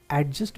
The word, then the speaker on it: adjust: सकता है और यह एडजस्ट भी नहीं है एक्चुअली यहां पर दी का साउंड साइलेंट वैसे ही पार्ट्स ऑफ स्पीच